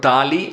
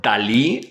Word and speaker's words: Dalí: Salvador Dali, or Dalí as we pronounce it in Spanish, is one of the most universal Catalan artists.